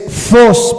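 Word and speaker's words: φως: de que lo apunten es fos pero se escribe ph en vez de F pH Y esa es la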